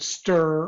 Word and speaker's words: str: very similar to the command stir or str or structure depends on how you want to pronounce it but str are the